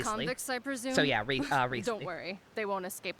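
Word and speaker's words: Wriothesley: What was the actual pronunciation that we figured out? Riesli? It seems like it should be a lot more of a mouthful of that, but I believe Sub worked it out for us, even though that's not even a French name. And the correct pronunciation is just Riesli.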